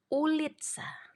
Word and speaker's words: ulica: miangso miangso Oke lanjut tulisannya ulica tapi kalau cuma C aja bacanya kan TS se se jadi ulitsa ulitsa oke nah yang berikutnya